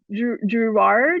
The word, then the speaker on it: Drouhard: My grandma always said it was like Drouhard, but that's obviously not everyone. Yeah, I just say Drouhard.